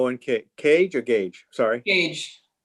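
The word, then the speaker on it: Kage: cage stupa no one cage or gage sorry gage spell it k-k-a-g-e k-a-g okay cool all right thank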